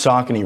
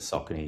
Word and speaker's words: Saucony: It's pronounced Sakin, right, Gus?